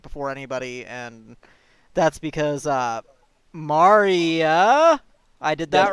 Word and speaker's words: Marya: I got like some early access to the stuff like before anybody, and that's because Marya, I did that right? That's how you pronounce it, yeah. Marya Yes.